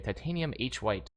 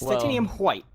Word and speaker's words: Titanium hWhite: uh H white as I like to say titanium H white though is there is that the correct way you're supposed to pronounce their name I think it's white white yeah it's titanium white yeah titanium white is uh has a little